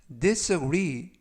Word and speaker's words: disagree: 뜻이 되겠습니다 2번 표현은 disagree disagree disagree라고 발음하시면 되겠고요 강세는 끝부분에 있는 알파벳 2의 가 있 그래서 disagree라고 발음하시면 되겠고요 품사는 동사 뜻은 동의하지